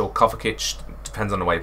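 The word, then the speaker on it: Kovačić: to another showdown sbc today we have mateo kovetich or coverkitch depends on the way you pronounce it uh we've got the premier league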